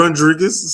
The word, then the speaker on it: Rondregus: Rodri Rodriguez or how do you say your first name? Rodriguez.